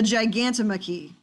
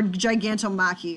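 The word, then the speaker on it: Gigantomachy: we have over here the gigantomochi or giganto maki or whatever you want to say it's different ways i've heard it pronounced but this is that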